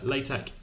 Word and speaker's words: LaTeX: take but anyway uh latex with is pronounced at the end it's like a Kai Greek letter it's a fancy